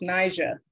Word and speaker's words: Ni'Ja: people in the back my name is pronounced niger the soft j follows a hard blade also known as an apostrophe i make art thank